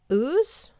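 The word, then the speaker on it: Ouse: The river ooze. I asked. O. TJ corrected, breaking into a grin. It rhymes with moose.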